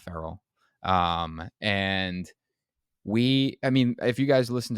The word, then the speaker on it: Farrell: We got Tyler Farrell back on the podcast from Killowen Construction. I feel like I just said his last name wrong. Farrell, not Farrell.